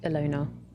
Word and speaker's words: Ilona: Oh, so it's just pronounced the way it looks. Ilona.